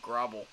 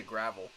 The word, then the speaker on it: Grable: were gonna have fun trying to say that last name Grable they're G to say gravel pronunciation watch they're going